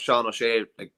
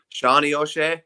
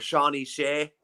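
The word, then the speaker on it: Seán O'Shea: He kept Sean O'Shea really quiet in the All-Ireland final last year. You pronounced the Kerry man's name wrong there, though. Shawnee O'Shea or Shawnee Shea. Correct.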